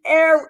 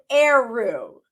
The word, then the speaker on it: Eroh: Eru. It's Eru.